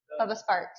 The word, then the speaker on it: Bubba Sparks: Bubba Sparks? Like sparks are flying? Huh? Bubba Sparks, yes, you're saying it right.